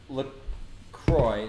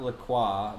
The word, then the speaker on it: LaCroix: LaCroix is pronounced LaCroix, not LaCroix, not LaCroix, like the French might say.